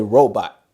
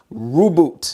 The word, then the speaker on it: Rubot: a little compact vacuum this one is called rubo every time I pronounce it I'm ready to say robot but rubo right here it says